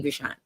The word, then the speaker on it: Abishan: Oh, like Sean at the end. Okay. Abishan.